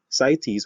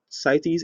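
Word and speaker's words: CITES: and especially the international trade of wildlife and cities which is spelt or is actually an acronym c i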